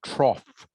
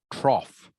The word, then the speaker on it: trough: the second one is trough trough almost like it is spelled t-r-o-f-f rhymes with off rhymes with off trough okay this sound here